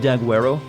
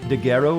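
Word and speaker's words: Daguerreo: sure what did G how you pronounce the G in this is it Italian is it French I don't know all I know it sounds like has a K sound its doc well Daguerre o is how it's pronounced song I mean sure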